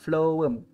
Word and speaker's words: phloem: Flowworm. Okay, so saya tulis sini ya. Flowworm.